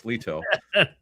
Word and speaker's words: Lito: I know Lito said to pronounce it Lito. I used to call him Lito, but it's Lito.